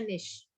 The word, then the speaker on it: niche: उसके स्पेलिंग होते हैं NICHE और उसको प्रोनाउंस करते हैं निश, कैटेगरी को कहते हैं।